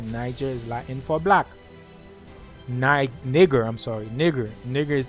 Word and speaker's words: niger: The pronunciation of it is nigger, not Niger. Nigger. It's a Latin word, nigger.